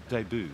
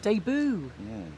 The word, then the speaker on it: debut: appearance no their first is a French word their de debut de boo it's an interesting way